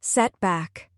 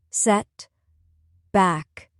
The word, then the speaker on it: setback: Now let's try set back. Two syllables. Set back. Stress on the first syllable. Set back.